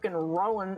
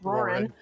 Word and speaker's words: Roran: The only reason why I'm able to get some of these correct except for Rowan apparently. Roran.